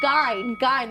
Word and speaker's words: Gein: Gein.